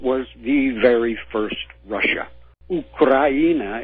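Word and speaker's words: Украина: Ukraina is how it's pronounced in Russian.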